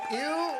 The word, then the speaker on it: Ew: Is it ew? It's ooh. It's ooh. You're saying it right. It's Okay. actually short for Ewok, but it's ooh.